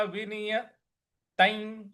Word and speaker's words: विनियतं: यहां पे जो त पे जो अनुस्वार लगा हुआ है इसका ऐ कख गघ च छ ज झ इया का जो ऐ होता है वो अनुस्वार में उसका उच्चारण हमें करना है। तो ये हो जाएगा यदा विनियतं। यदा विनियतं। इस प्रकार से चित्तमा चित्तमा चित्तमा इस प्रकार से बोलना है। तो ये हो जाएगा यदा विनियतं चित्तमा।